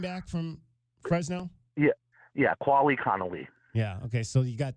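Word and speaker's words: Quali Conley: other things with these speedsters now and it's pronounced quali Connelly the the other running back from Fresno yeah yeah quali Conelly yeah okay so you got two running backs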